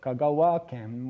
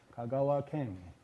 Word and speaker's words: Kagawa-ken: So, you get um uh Kagawa-ken with the accent at the end of Kagawa uh uh and not Kagawa-ken.